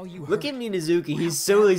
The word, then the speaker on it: Minazuki: They said it Minazuki. They pronounce it weird. Minazuki. I'm gonna keep saying it that way.